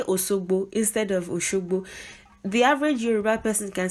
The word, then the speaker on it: Osogbo: Like if they want to say Oshogbo, and even Oshogbo natives speak like that. Many people, they just don't say Shi, they say Osogbo.